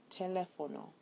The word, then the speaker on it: teléfono: Teléfono ends in a vowel, so it should be on the N-O, or on the O actually, but it's actually on the second E.